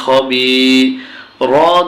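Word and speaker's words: خبير: জে জমা caliph B খবি র দুই জের রিন খবিরিন বারান করলে উচ্চারণটা হয় কি বন্ধুগণ খবিরিন কিন্তু যখন আমরা এখানে থেমেই যাব তখন উচ্চারণ হবে খবির আলিফ লাম কিতাবুন মিল্লাদুন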